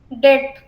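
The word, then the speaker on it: debt: डेट, कर्जा जो होता है आपका, इसमें बी आपका साइलेंट रहेगा, डेट।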